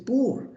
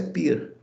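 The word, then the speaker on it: πῦρ: Escreve-se pur, mas a pronúncia é pir.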